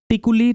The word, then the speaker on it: तिकुली: इसका प्रोनाउंसिएशन अब टिकुली टिकुली दोनों होता है, तो मैंने पहले इंग्लिश में लिख दिया आपके लिए, टिकुली आर्ट, टिकुली कला।